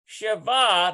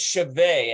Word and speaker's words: שווה: They've got Tesha Ve'od Shalosh Shava. Notice that means equal. I think it's Shaveh, actually. It means equal.